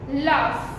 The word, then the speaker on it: laugh: સી જીએચ is there but વી are speaking F, ટફ, રફ, લાફ, laugh, laughter, laughter. So here this gh, the sound of gh is f.